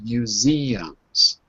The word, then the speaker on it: museums: Museums. One more time. Museums. Museums. Museums. Three syllables. Museums.